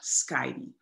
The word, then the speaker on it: Scheijde: For Americans, it's easier to say Scheijde, so you don't have to pronounce the guttural sound of Scheijde.